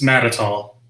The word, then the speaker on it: Matatall: always cleaned it up it's mad at all mad at all I